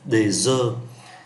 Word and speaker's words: œufs: Một trái trứng chúng ta phát âm là un œuf. Nhiều trái trứng chúng ta phát âm là des œufs, un œuf, des œufs.